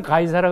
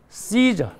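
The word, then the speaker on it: Caesar: 그래서 황제를 한글 성경에서는 가이사라 그려놨는데 이건 이제 한글식 발음으로 번역한 거고 영어식 발음은 시저. 그 다음에 또 다른 발음으로 카이사르 이렇게 발음을 해요.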